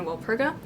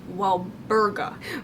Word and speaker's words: Walburga: Sirius is the older brother of Regulus and the son of Orion and Walpurga. Need to mention, her name is actually Walburga with a B.